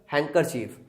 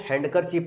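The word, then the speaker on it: handkerchief: C took of her spectacles and wipe them with the हैंकरचीफ। देखो मैं पहले इसको हैंडकरचीफ पढ़ता था, डी यहाँ पे साइलेंट होता है, हैंकरचीफ पढ़ते हैं इसको।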